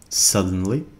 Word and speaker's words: suddenly: Suddenly, تعني فجأة. He suddenly saw an animal. هو فجأة رأى حيوان. لاحظوا أن الإي هنا لا تلفظ. Suddenly.